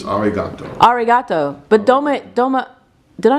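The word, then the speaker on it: ありがとう: How do you say dom regato? No, we say Johnny. Johnny. Goodbye. But I said thank you, didn't I? Oh, thank you. It's arigato.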